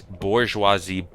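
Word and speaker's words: bourgeoisie: It's bourgeoisi all the way to the top.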